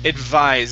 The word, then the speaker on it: advise: So first up we have the word advise. Give me a good V sound. Advise. Advised. Advised. Advise. Yeah, advise. Just with a Z sound at the end.